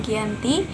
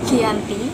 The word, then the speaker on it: Giyanti: Dalam pelafalan Belanda, ia tersebut sebagai Giyanti.